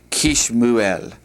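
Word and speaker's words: כִּשְׁמוּאֵל: All right, like Samuel, instead of having 2 shavahs together, we're going to take one of the shavahs off of the kaf, and it'll be pronounced Kishmuel.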